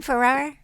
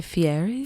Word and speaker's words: Fieri: our how do you say his last name Ferrar Guy Fieri Fieri's restaurant that was nice that was nice